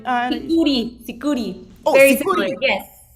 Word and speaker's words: sikuri: I think Sikura is what Anaís said, that music. Did I say it right? Sikuri. Oh, Very Sikuri. similar, yes. Sikuri. I was almost, it's an E, not an A.